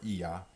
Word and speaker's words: il y a: Il y a des nuages. Huh? It means there are some clouds. Il y a, we pronounce typically ya or iya, meaning there or there is.